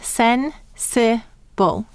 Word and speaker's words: sensible: was chosen by Sadie how many syllables in sin Sybil three sound it out for me as I write it the first double is sin hmm the second syllable is six it and the third syllable is bull bull and we need a silent final e do you know why